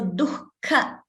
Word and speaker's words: dukkha: So dukkha, see the pronunciation of that word. It is duhu and kha. It means sorrow in Sanskrit. But when you pronounce it, it becomes dukkha.